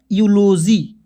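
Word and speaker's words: eulogy: ई यू एल ओ जी वाई क्या पढ़ेंगे यूलॉजी ठीक है इस तरह से अब आइए दोस्तों आई के उच्चारण के नियम को बताते हैं बिल्कुल चुटकियों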